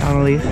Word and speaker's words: Analaiese: Am I pronouncing your name right? Analaiese? Yeah. Okay, Analaiese.